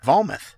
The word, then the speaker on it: Vometh: Through all these All right, Metalheads, I'm being joined on the line right now with Niklas and Henrick from Vometh. Did I pronounce that right?